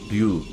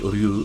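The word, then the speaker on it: 류: It's actually Ryu, but you write it as Yu because in Korea they changed the lettering system. So it is actually Ryu Sung-kun, but you write it in Korean as Yu Sung-kun.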